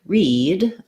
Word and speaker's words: read: So the letters EA in many words like read will say the E sound.